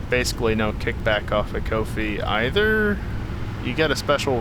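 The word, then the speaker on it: Ko-fi: can support me on kofi you know it's pronounced like no fee that's what they say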